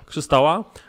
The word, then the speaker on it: Krzystała: Krzystała chyba, czy Krystała? Krzystała.